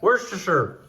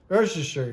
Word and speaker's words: Worcestershire: Worcestershire. Worcestershire. Worcestershire, you just mumble it.